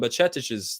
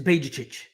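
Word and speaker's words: Bajčetić: You make Stefan Bajcetic's life easier.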